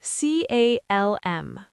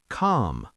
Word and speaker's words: calm: Americans often pronounce the L in these words, but in British English, it's often silent. Calm. C A L M. British calm. American calm with a slight L.